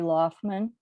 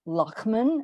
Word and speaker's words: Loftman: It's Loftman, or Lochman, as you used to tease me, that I mispronounced it.